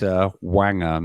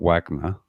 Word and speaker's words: Wanger: And it's Wanger, not Wagner. I mean, mispronounced a lot then. Yeah. I'm just Wanger? Saying. Yeah, literally. It's NG, not GN.